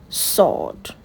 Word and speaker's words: sword: The W is silent. So it's sword.